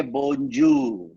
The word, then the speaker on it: bonjour: Bon na good. Jour na day in French.